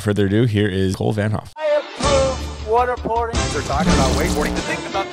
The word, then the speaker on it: Vanthof: guest Cole vanthof uh T silent Vanhoff no way yeah if